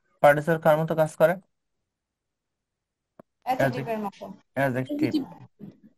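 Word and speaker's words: adjective: অ্যাডজেক্টিভ। ডি এর উচ্চারণ হবে না, অ্যাডজেক্টিভ না, অ্যাডজেক্টিভ। ঠিক আছে? এডিজে পাশাপাশি থাকলে ডি এর উচ্চারণ হয় না।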